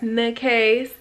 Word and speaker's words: Nikase: Name is Nikase, pronounced Nikase, if you're new here and you're trying to figure things out.